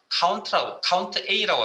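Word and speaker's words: COUNTA: 카운트 A라고 합니다. 뭐 카운터라고 읽으시는 분도 있는데 저는 카운트 A라고 읽겠습니다.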